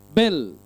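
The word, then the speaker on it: בל: தான் அடுத்தது என்னது லேமேட் இந்த ரெண்டு எழுத்து மட்டும் நீங்க எடுத்தீங்கன்னா பெத்துல லேமடை மட்டும் எடுத்தீங்கன்னா அது என்னது உச்சரிப்பு பெல் அதாவது பாலை தான் என்ன சொல்லுவாங்க பெல் அப்படின்னு சொல்லி சொல்லுவாங்க அதாவது பாகாலினுடைய வீடு பாகாலனுடைய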